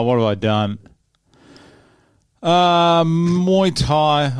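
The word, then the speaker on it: Muay Thai: have I done uh mu Tha or mu thigh as the locals pronounce it Grand PRI here we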